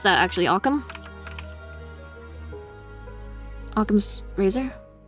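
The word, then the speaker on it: Occam's razor: one known as aam's Razer how do you pronounce that actually aam aam's razor that's right okay and I might as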